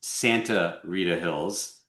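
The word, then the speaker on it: Sta. Rita Hills: so you know while the name of the AVA is pronounced Santa Rita Hills just as it's written it must be written as sta period.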